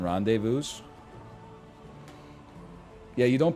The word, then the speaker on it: rendezvous: I don't think you pronounce the S in rendezvous.